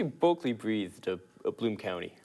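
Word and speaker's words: Berkeley Breathed: a legend, maybe it would be I'd say Berkeley Breathe of Bloom County. Berkeley Breathe. That's how you pronounce his name?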